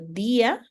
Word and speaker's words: día: Y entonces tenemos que por ejemplo día día Si no tuviera la tilde diría ya pero yo necesito pronunciarlo